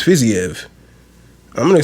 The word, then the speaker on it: Fiziev: fizzyev faisave i hear every time somebody like pronounces his name they say it differently depending it's just whoever says it at that time it's either physio fuzzy like i don't know i think it's fizzyev i'm going to say